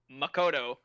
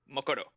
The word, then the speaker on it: Makoto: the syllables equally stressed so like Makoto is Makoto like boom boom boom like you to just see each one with the same amount of stuff um ryuji which like